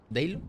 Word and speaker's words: DHEYLO: la tienda de fortnite que se escribe d h e y l o dlo vale como suena con la H intercalada Ese es el código y